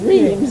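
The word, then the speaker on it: Reims: Because our pronunciation was Reams, and so then they all jumped up again.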